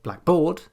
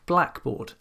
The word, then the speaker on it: blackboard: We don't say blackboard, we say blackboard.